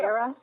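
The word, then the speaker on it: Erra: Am I pronouncing that right? Yeah. Era, E-R-R-A.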